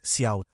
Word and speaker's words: cout: header file <iostream> ("cout" (pronounced "see out").